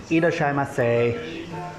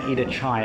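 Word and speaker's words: いらっしゃいませ: Irashaimase. Welcome. Irashaimase. Irashaimase. Irashai. I was saying Ida-chai earlier, and apparently that's what babies say because they can't pronounce sh. So I just sounded like a toddler.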